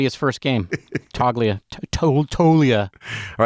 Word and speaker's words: Toglia: guy named Michael toia he spells it toglia but he pronounces it toia and apparently he's like